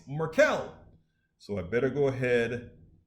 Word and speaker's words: Markel: get started with reverend markell i think he told me the better you spelled you said my name wrong it's merkel so i better go